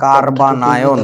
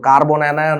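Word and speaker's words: carbanion: এটাকে বলবো 3 degree কার্বানায়ন। বানানটা বুঝো, কার্বন অ্যানায়ন না, কার্বো অ্যানায়ন না, কার্বানায়ন। ওয়ার্ডটা হচ্ছে কার্বানায়ন। আচ্ছা, তারপরে আসো, এটা হবে 2 ডিগ্রি, এটা হবে 1 ডিগ্রি, 2 ডিগ্রি, এটা হবে 1 ডিগ্রি।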